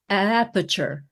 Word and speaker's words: Aperture: pitch, but it's also, the word that I remember being different was it's almost two syllables for aperture. Aperture. Aperture ah, science. It's they're two little as at the beginning of that word, and there are other